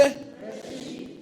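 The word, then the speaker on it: ראשית: Reshit.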